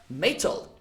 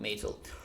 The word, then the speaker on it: metal: You used to sort of swallow that T sound, so when you find a T sound between two vowel sounds, okay?